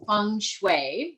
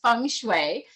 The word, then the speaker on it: feng shui: First of all, the pronunciation is Feng Shui, not Feng Shui or Feng Shui or whatever. It's Feng Shui, and it actually means wind and water.